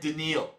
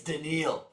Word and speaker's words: Danielle: It's It's so scary that it's spelled Danielle, but it said Denal. Denil is a lot more scary to say. It's Denal. We got 11 or 10 seconds left in this third quarter.